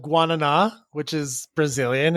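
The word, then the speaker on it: guaraná: like super highly caffeinated, but no one says it right. They all say like, "What's the guerran?" And I'm like, "It's guana. Say it right or don't say it at all.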